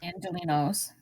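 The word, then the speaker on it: Angelenos: How do you pronounce it? Angelinos.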